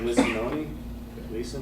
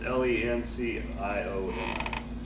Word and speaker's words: Lencioni: Patrick Licinoni? I don't know how to say his last name, but Patrick Licinoni. It's Lencioni.